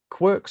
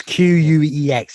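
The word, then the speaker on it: Quex: Is that Quirk's Adventure Fright Park? Yeah, well, it's Queex.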